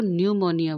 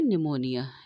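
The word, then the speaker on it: pneumonia: subscribe नहीं gift तो इसको न्यूमोनिया बोलते हैं निमोनिया निमोनिया इसको हिंदी में बोलते हैं तो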